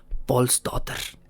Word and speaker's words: Pálsdóttir: llamaba en aquel entonces, año de 1881, Brynhild Pálsdóttir. Un nombre un poco más difícil de pronunciar para mí, pero finalmente Brynhild era eso, era Brynhild Pálsdóttir, siguiendo la tradición noruega, Pálsdóttir.